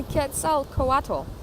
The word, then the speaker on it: Quetzalcoatl: coach rule kids so cool octo who the Quetzalcoatl okay that's how you say it was the